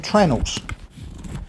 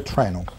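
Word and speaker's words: treenail: like everything in the woodworking trade we don't pronounce that properly we call them trenel so this in actual fact is a trenel a tree pin which makes a lot of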